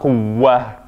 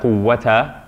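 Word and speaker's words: قوة: shadda, quwwa, and then since we have a fatha on the tamabuta, it's not quwwa, it's not just a ha. Since there's a vowel on the tamabuta, it's pronounced as a t. Wala quwwata, quwwata, quwwata, illa.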